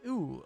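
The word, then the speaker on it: ウ: the second is straight this is ooh or ooh it is the equivalent of the vowel u in english it is pronounced you pronounce this as ooh like in the word ooze yes now that i'm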